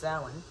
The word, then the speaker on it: Samhain: Samhain, pronounced Samhain, begins the evening of October 31st and lasts to the end of the harvest season, November 1st, the Gaelic traditions.